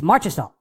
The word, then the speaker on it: Marchessault: Figure out how their names are pronounced. It's Marchessault.